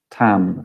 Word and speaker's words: tam: syllable associated with Tara, which is tam, so it's a particular syllable, or that's like om, it's similar to om, so it's tam in her case.